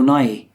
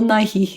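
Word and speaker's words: Nighy: plays the goose Bill NY okay fine yeah how how do you say it no it's because you've been saying Bill Nike Nike Nike sports okay you get that's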